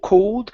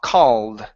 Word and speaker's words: called: to the word called instead of co cold open up your mouth more with an A C called C there you go